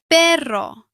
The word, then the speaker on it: perro: A double R creates a stronger rolled sound. For example, perro.